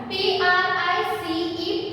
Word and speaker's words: price: P-R-I-C-E, price. See here, C-E also we are pronouncing as S sound here.